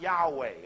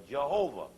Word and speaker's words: Yahweh: to that Hebrew tetragrammation, transliterated YHWH or JHVH, often pronounced Yahweh or Jehovah.